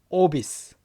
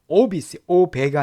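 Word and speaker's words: obese: 오비스. 오배가 아니라 오비스입니다.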